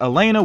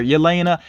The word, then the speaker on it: Yelena: It seems like sometimes they pronounce the Y and sometimes they don't. You all let me know how you think you're supposed to say her name. For the most part, I think I have heard the Y pronounced though, Yelena.